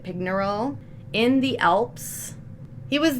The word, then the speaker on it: Pignerol: Sent to the fortress of Pignerol, I think that's how you pronounce it, Pignerol, in the Alps.